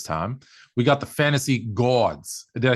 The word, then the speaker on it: Gawds: we got the fantasy gods did I say go I want to say it because it's spelled g-a-w-d you gotta say you gotta say Gods it's the gods Gods yeah with the